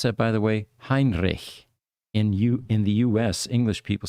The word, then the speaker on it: Heinrich: Heinrich. In the U.S., English people say Heinrich, right? Well, Germans know how to pronounce CH.